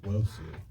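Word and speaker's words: Nwosu: Newsu. Hello, it's me, and it is pronounced Wosu.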